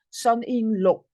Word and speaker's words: son-in-law: Son-in-law. L-A-W, we pronounce like O, son-in-law.